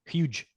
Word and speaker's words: huge: huge a hood yeah try to pronounce like you huge huge rip it huge you you don't pronounce I don't hear J at the end huge say one more